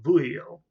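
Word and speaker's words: Veuillot: them um people like and i think i'm pronouncing this name the right way louis vuillo uh vuio not bo but buhio who was this very i mentioned some of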